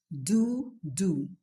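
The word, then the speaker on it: doux-doux: Word one, dodo. Pronounced dodo. The word dodo actually comes from the French dialect, and it means sweet sweet.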